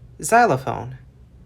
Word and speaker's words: xylophone: And then they dropped the G sound to pronounce it as just Z, xylophone.